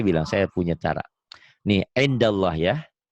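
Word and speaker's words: عِندَ ٱللَّه: Nih, indallah ya. Ditulisnya kan in, ada n-nya. Dibacanya jadi Indallah. kenapa? Nun mati ketemu dal.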